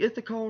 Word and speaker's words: Ithical: It's supposed to be pronounced Ithical, but the ith sound comes a bit more naturally to me, so I slip it up a bit.